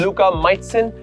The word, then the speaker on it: Luka Majcen: This is In the Stands with Luka Majcen. I pronounced your name correctly, right Yes, Luka?